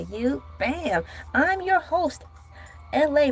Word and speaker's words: Elay: I'm your host, LA, pronounced like LA, like the city.